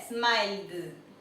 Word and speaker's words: smiled: Vemos que él termina en un sonido fuerte, así que la ed se pronuncia como una D. Sería smiled. Smiled.